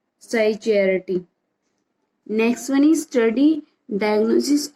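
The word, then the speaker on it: psychiatry: हैं, इसको बोलते हैं साइकियाट्री। तो स्टूडेंट इसमें पी साइलेंट होता है, तो ये वर्ड हमारा क्या स्पीक किया जाता है? साइकियाट्री।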